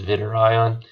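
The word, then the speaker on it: zwitterion: and that's called as vitter ion alright it's spelled like this but when you pronounce it you pronounce the W as a V it's Vidur ion all right and what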